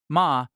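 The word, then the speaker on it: 間: Ma. Pronounced ma, it means negative space, the intentional pause,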